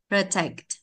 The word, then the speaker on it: protect: Protect. Protect. Đấy, đọc như thế. Protect. Có đọc đi sai bằng nhau không? Không có đâu. Trọng âm rơi từ sai phải đọc mạnh hơn ạ.